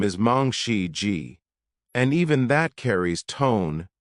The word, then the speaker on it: Mangshi Ji: Her name is often mispronounced. Some say Mangi, some say Mangi, but her real name is Mong Xi Ji.